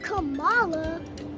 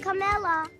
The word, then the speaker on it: Kamala: politician of substance pamela it's not kamala it's not camella but she still had